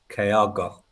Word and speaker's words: Kyogo: Bhoycie, I'm disappointed you're not putting as much effort into the pronunciation. It's Kyogo.